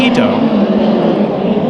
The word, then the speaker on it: Ito: Cody Swanson, and rounding out the field, the 73 of Dylan Ito. That's right. There is an I in the name, but he pronounces it as an E.